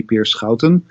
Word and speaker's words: Peer Schouten: So my name is Peer Schouten, actually pronounced in the correct way in Dutch, that would be Peer Schouten.